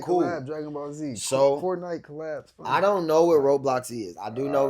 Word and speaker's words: Roblox: All campers that got kids that are watching this, none of them, do not allow your kids to download and play Roblox.